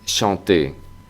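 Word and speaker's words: chanter: verbo cantar en francés shanté la ch Siempre será sh shant shant shanton shanté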